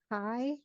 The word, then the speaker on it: chi: of a wavy X it's a Greek Kai and written Chi but pronounced Kai and this test statistic